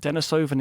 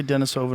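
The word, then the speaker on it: Denisovan: And why that's important is that Dennisovven is kind of like a sister. How do you say it? Do you say Denisovven or Denise? I say Dennisovven, but I keep hearing Denise.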